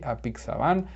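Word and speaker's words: apixabán: 53 is a pixaban in spanish it's the same just that it has an accent on the a a pixaban and eloquis is the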